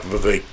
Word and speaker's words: Vivek: to go after, like Vivek rhymes with cake.